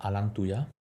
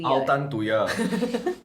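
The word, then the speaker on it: Altantuya: Can we talk about Alantuya? Okay. Sorry? Altan to Altan to ya. I don't want to talk about her anymore. So I pronounced her name wrongly.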